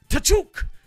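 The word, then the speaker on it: Tkachuk: It's pronounced T'Chuk, but according to one of his mates anyways.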